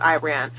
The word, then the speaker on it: Iran: just how it is when we see a word that starts with Iris Iris we're going to pronounce it like it's an I we're going to put a lot of emphasis on the I sound Iris Ireland Iraq crack. I ran.